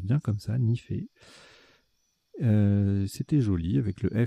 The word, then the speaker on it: nife: On a joué Nife, N-I-F-E, Vous aurez la définition tout à l'heure, ça se prononce bien comme ça, Nifé.